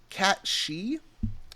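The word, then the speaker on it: cat sìth: Isles it is the I think it's pronounced uh cat she it's spelled cat Sith or Sith cat they also say Sith cat so but I know that that Sith is actually she as in like bans she oh um yeah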